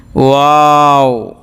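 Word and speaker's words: و: Calf, লাম, লাম, মিম, মিম, নুন, নুন, ওয়াও, ওয়াও, মুখটা গোল করে, ওয়াও, টুটটা গোল করে উচ্চারণ করতে হবে।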